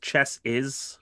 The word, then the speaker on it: chassis: It's pronounced chess is.